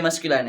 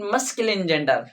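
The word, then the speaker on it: masculine: ये मस्कुलाइन है।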